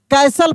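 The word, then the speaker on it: castle: near अ beautiful कैसल देखिए सी ए एस टी एल ई लिखा है कास्टल नहीं पढ़ेंगे कैसल पढ़ेंगे हम आपको टी साइलेंट वाला रूल में सिखाए थे सब कुछ मैं करा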